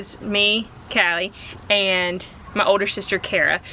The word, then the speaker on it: Kali: How do you know it's not pronounced Kaylee? Because I said Callie.